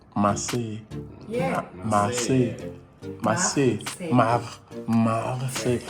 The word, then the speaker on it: Marseille: How is it pronounced? Marseille. Marseille.